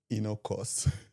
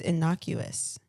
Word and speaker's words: innocuous: Inocus. I have never seen that word. Oh, damn. Maybe it's innocuous.